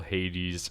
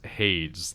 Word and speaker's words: Hades: there's some tubers who call hades haze like rhymes with shades yeah blood and sword